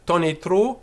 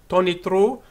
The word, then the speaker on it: tonitru: And of course, this word tonitru can be read with the accent on the O, tonitru, or it can be tonitru as well.